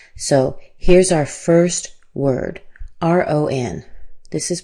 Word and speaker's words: Ron: So, here's our first word, R O N. This is pronounced ron. This a here in my symbols represents the sound a. It's actually the same a like father.